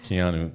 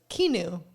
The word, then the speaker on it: Keanu: hold it against him but Keanu not a chance they're like kenu yeah kenu we're like right on